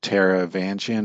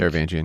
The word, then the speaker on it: Taravangian: Uh, I'll probably get his name wrong. Tara Vanjian, I think. Taravangian.